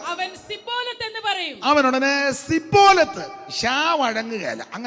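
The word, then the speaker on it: Shibboleth: അതുകൊണ്ട് 'ഷിബ്ബോലെത്ത്' എന്ന് പറയാൻ ആവശ്യപ്പെട്ടാൽ അവർക്ക് മനസ്സിലാകില്ല, ഉടനെ... 'സിബോലെ' എന്ന് പറയുക. 'സിബോലെത്ത്' എന്ന് പറയുക. അങ്ങനെയാണ് കുഴപ്പങ്ങൾ തുടങ്ങുന്നത്.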